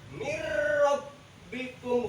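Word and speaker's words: مِنْ رَبِّكُمْ: belum Virgoun Hai Mir bacanya mirrobbikum bukannya Minho Minho buka jadi hukumnya idgham mirrobbikum Hai yang keenam ada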